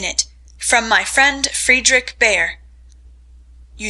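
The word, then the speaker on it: Bhaer: at his horrid name it isn't pronounced either bear or beer as people will say it but something between the two as only Germans can give it I'm glad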